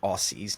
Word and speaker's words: Aussie: will forgive you saying Aussies not Aussies Aussie sorry SP a u SS i e Aussie it's yeah but it's aie z z well you should spell